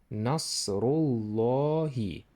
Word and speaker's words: نصر الله: There is tafkhim here. You should pronounce this raw bolder. Nasru. Then you should link this u to the next word. This is lam here doubling. Nasrullahi.